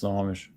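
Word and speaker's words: Snohomish: Uh, Snowomish. Washington. S N O H O M I S H. Yeah, it's Snomish.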